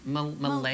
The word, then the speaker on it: Mullally: Mullally. Is it Mullally? Mullally. Rhymes with Sally, yeah.